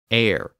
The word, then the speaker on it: heir: So words like honor, honest, hour, as in the time of day, heir, as in someone who inherits property, and herb were spelled with their silent H.